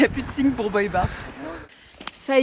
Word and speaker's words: Boibar: L'endroit qui est par là-bas, ça s'appelle Boibar. Du coup ça s'écrit B-O-I et plus loin bar.